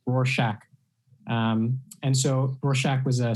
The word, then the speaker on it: Rorschach: It's pronounced like a shack, Rorschach.